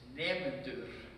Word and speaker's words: nemendur: Students in Icelandic is nemendur. So with a rolling R, if you can do a rolling R, you've perfected the Icelandic.